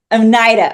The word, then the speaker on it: Oneida: you're part of the onita tribe right and I want to learn more about did I say that correctly no okay okay no please correctly how do you say it correctly Onida Onida okay thank um and so